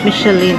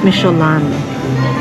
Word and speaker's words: Michelin: It's not micheline. It's micholan.